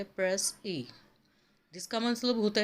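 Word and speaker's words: précis: तो प्रेसी जो है वो एक फ्रेंच वर्ड है जो कि प्रोनाउंस किया जाता है प्रेस ए, जिसका मतलब होता है प्रिसाइज और अ कंसाइज और अ ब्रिजिड स्टेटमेंट और एब्स्ट्रैक्ट स्टेटमेंट।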